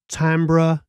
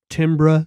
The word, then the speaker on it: timbre: the guitar amp a completely different tamra timbre depending on where you're from and how you want to pronounce it but it would sonically